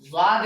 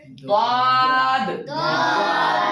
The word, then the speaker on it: ضاد: ہا ہا خا قاف دال زا ضاد. کچھ لوگ اس کو زاد پڑھتے ہیں، ہمارے طریقے سے وہ غلط ہے. ٹھیک ہے. اس کو زاد نہیں بلکہ ضاد.